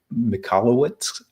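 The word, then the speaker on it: Michalowicz: slaughter this author's name it's Mike mallwitz I believe is how you pronounce it but it's called profit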